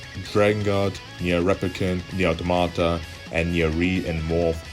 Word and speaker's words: Automata: Next series I want to talk about is Nier Automata, or some people pronounce it Automata. I call it just Automata.